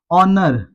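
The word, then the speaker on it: honour: आर ऑनर ऑनर को भी ओ की साउंड से पढ़ेंगे। एच इसमें दोस्तों साइलेंट हो जाता है।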